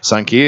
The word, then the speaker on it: Xankia: Sankia is located on 222 West Wells Street. So it's just it's spelled Xankia, but it is pronounced Sankia.